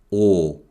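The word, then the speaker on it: ㅗ: a dash pointing up is or or similar to the vowel sound in the word dog or is written like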